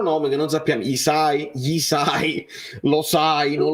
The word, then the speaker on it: Hysaj: sai non lo sai gli Sai si scrive hysaj con la y prima la Y dopo l'hys a J perché quello che è l'unico modo per me per ricordarmi che non è che dice sei come in inglese quindi si